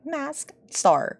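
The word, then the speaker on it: Mask☆: by mask the mask you're supposed to pronounce the star okay mask star The Mask our most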